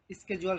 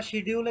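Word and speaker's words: schedule: হইতে পারে, এরকম একটা স্কেজুয়াল সাজানো। তাহলে এর জন্য আপনাকে কি করতে হবে, স্কেজুয়াল ক্লিক করে দেন, ঠিক আছে, অথবা শিডিউলে ক্লিক করে দেন, যেটাই বলেন, ওইটারই সঠিক উচ্চারণে স্কেজুয়ালই বলে।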